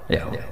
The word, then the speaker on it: Yahweh: Ya paham ya, Tuhan Yahudi tunggal niku Yahweh, napa? Yahweh. Iku nak teng ejaan Latin Y besar, A H besar, W E H besar, Yahweh.